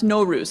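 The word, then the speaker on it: Nowruz: norus pronounce so yeah pronounce norus let's try that repeat after me norus gorgeous so norus literally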